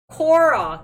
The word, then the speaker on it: Quora: form things have you guys heard of that quora cura ah i told you my pronunciation sucks guys keep correcting korra thank you you would expect but it's like